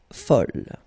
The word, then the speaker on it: folle: And here is the second masculine form, and it's folle. And the feminine form is folle. Okay, same thing here, same pronunciation, but then you write them differently.